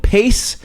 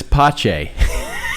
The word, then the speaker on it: Pace: Dad referred to it as pache. He instead of just the simple pronunciation that it was, Dad couldn't accept that it was just that simple. No. It was pache.